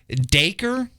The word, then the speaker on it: Dacre: by, God, I don't even know how you pronounce this last name. Dacre, D-A-C-R-E, Dacre Montgomery.